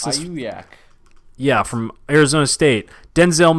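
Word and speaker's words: Aiyuk: How do you pronounce this? Ayuk.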